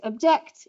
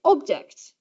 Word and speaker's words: object: So object, object. If you say object, then you have a fall from the first syllable. Object, you can hear it rising to the second syllable and falling again.